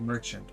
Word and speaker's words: Merchant: Almost like merchant, but pronounced with a French accent, Merchant.